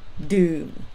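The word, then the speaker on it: ดื่ม: you have to use the word doom low tone doom is to drink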